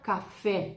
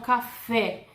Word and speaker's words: café: Mas eu não vou falar em espanhol café. Eu hablo café. La E é mais cerrada em espanhol, sim?